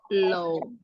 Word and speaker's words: law: I have been practicing law Ya, law. For 5 years. Ya, I have been practicing law for 5 years. Jadi cara baca law itu bukan L-A-W ya. Bukan law. Tapi cara bacanya L-O. Law.